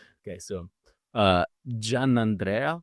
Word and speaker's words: Giannandrea: track well I'll um let's say with the Italian pronunciation yeah do it I want to I want to perfect it man I'm GNA get it right okay so uh Jan Andrea Jan Andrea jamano jamano J Andre